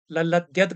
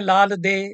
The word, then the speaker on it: ललद्यद: बात की प्रसन्नता है लल्लेश्वरी कश्मीरी भाषा में लल ललद्यद कहा जाता है अंग्रेजी में लाल दे लिखते हैं और लाल दे उच्चारण भी कई लोग करते हैं चल पड़ा है संस्कृत में लल्लेश्वरी नाम